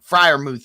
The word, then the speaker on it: Freiermuth: I mean, Freiermuth is how you pronounce it.